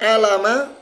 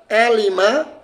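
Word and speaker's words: عَلِمَ: Bisa dibaca alama, bisa dibaca alima, bisa dibaca ulima. Nah, ternyata dalam kaidah ilmu sharaf, kalimat ain, lam, mim ini punya timbangan, punya wazan khusus. Yaitu apa wazannya? Ala wazni fa'ila. Ya, kalimat alima, kalimat ain, lam, mim itu punya wazan fa'ila.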